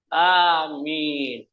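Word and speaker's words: آمين: nasara berdoa di gerejanya Amin panjang Makanya kita membacanya harus panjang giril magdubi alaihimad yakni bahasa Ibrani ya bahasa tiga agama alifnya panjang minimnya panjang jangan diganti dengan kabul kalau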